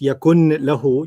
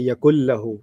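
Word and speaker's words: يكن له: to, in its rules, the noon and the lam are similar in sound, noon and lam. So you don't read this yakun lahu, you say yakul lahu.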